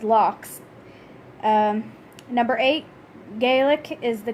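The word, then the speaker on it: lough: number seven and Ireland lakes are called as logs pronounces LOX number eight Gaelic is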